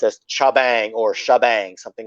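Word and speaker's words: T'Jbang: Because on the commercial it's pronounced as Shabang. That's what I was actually as a kid I always read it as TJ Bang, and then I think that's how I did.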